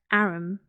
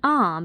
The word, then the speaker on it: arm: an arum your honor he pronounced it arum an arm you goose whoever saw one